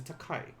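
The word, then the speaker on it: 高い: yen our next one this is not george takei but this is takai takai would mean like expensive or tall or high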